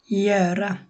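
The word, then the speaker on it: göra: ওর উপর যখন 2 ডট থাকে তখন একটা উচ্চারণ হয় ইয়ারা, ইয়ারা।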